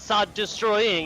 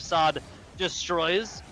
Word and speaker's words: Sod destroys: Sod destroys, not Sod destroying. Excuse me. Another shot. Speaking of Sod destroys, off into Vine.